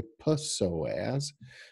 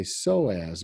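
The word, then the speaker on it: psoas: is the soas muscle we don't say p soaz we say soaz muscles okay but if we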